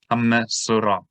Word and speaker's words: Metsora: So for example, this word, which is the name of the parasha, METSORA, right? So that's one syllable. Me, because there's a dagesh in the letter over the shava, that's two syllables. Hamme. So, that's a third syllable, and ra is a fourth. METSORA.